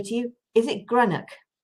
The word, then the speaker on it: Greenough: I didn't say to you, is it Greenough? How do you say Greenough? Greenough. Okay. Yes. So I apologize. Greenough.